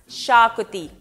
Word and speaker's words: Xacuti: I'm and although it is spelt with an X it's pronounced Shar cootie shakopee is a popular